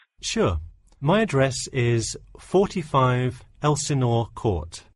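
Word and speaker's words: Elsinore: my address is 45 Elenor Court I'm sorry was that Elena could you spell that for me sure it's Elenor e l s i n o r e okay thanks and is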